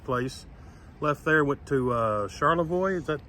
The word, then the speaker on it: Charlevoix: Left there, went to Charlevoix. Is that how you pronounce it? Yeah, Charlevoix.